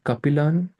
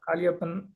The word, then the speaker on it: Kalyan: I think I think Capilan right? Capilan. I'm sorry if I'm pronouncing it wrong. My name is Kalyan.